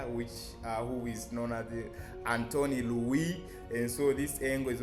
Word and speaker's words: Louis: as the angle of Louis. I understand we English speakers might call it Louis, angle of Louis, but I believe the correct French pronunciation is Louis.